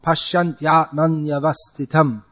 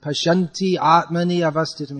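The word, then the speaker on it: पश्यन्त्यात्मन्यवस्थितम्: But so it becomes confusing in that sense, but it's supposed to be said as one flow. Pasyantyatmanyavastitam. It's all one flow. There's no stopping in between. And there this ya before a vowel comes twice, which means if you pronounce it like Pashyanti Atmani Avastitam, you add two extra matras.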